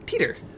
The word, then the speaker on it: Titor: Oh, Teeter. Little Teeter. little Teeter. Rhymes with Skeeter from Doug.